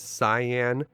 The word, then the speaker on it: Cyan: Now, if you like to pronounce this guy's name as Cyan, that's totally your choice, and when I was growing up, I always pronounced his name as Cyan, but in the Japanese version of this game, they spell his name out Cayenne, like the pepper, so it is very